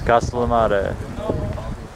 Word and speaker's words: Castellammare: It's Castellammare.